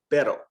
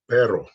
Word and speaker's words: pero: it's a singular r that comes in the middle or at the end of a word it's not rolled so these words are going to sound like this rep repete pero pero pera you're gonna roll